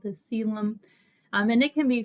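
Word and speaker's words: coelom: body um so our seum I know it doesn't look like that's how exactly it's pronounced that internal body cavity is called the seum um and it can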